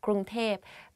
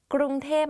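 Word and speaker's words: กรุงเทพ: พ Because like conversation wise, it's easier to pronounce like that, Krung Thep.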